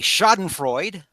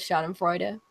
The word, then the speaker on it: Schadenfreude: I just have to Carnage. pronounce that E at the end of Schadenfreude.